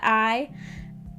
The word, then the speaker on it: AI: The game's called AI, the Somnium Files, but AI, you could pronounce that I.